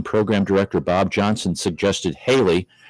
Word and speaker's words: Haley: director Bob Johnson suggested Haley rhymes with Bailey take advantage of the